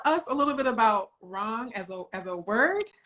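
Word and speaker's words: রং: slightly um so in bangla we call it wrong so it's spelled r-o-w-n-g but essentially it means color and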